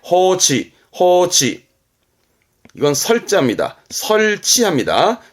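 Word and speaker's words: 放置: 방자 했던 겁니다. 방치하다, 내버려두는 방치에 호치.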